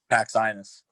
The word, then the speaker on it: Paxinos: Did I pronounce that right? Is it Paxinos or Paxinos? Paxinus.